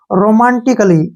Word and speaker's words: romantically: अब यहाँ फिर से ए के बाद डबल एल वाई आया है तो इसको हमने पढ़ना है रोमांटिकली, ठीक है ना। रोमांटिकली नहीं पढ़ना है, रोमांटिकली। क्या पढ़ेंगे? ऐसे रोमांटिकली, रोमांटिकली, ठीक है ना, रोमांटिकली। क्लियर? यहाँ पर ए जो है साइलेंट है।